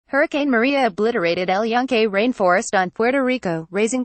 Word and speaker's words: El Yunque: El Yunque, pronounced Junque, has been an enormous source of pride in Puerto Rico and one of the main drivers of the island's tourism industry.